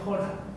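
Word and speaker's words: χώρα: pueden extender se pueden se pronuncia jora jora pero escribe no no J Omega r Alfa Omega r Alfa jora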